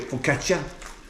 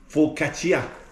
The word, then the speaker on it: focaccia: I don't know, we call it focaccia, but it's focaccia. Just the way you pronounce it.